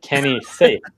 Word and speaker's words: Kenny Saief: And that is, now that we have the pronunciation right, I believe, Kenny Saief.